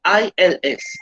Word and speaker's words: ils: The S is not pronounced at the end. ILS, il and ELLES, L, il and L.